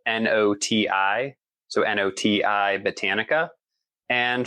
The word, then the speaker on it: Noti: So I have my uh company is Noai Botanica and Noai is spelled N O TI.